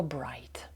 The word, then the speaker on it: bright: от Подивіться на слово Bright поєднання букв I g h t часто буде читатися як ай от слова sй Light